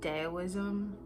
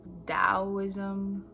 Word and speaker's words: Taoism: i would say it's daoism or taoism this depends on who you are the way you pronounce it but i intentionally say